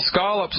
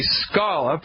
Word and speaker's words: scallop: way got lobsters and scallops up there ain't no such thing as a scallop by the way ladies and gentlemen the correct pronunciation always has been and always will be scull up ain't that right Allie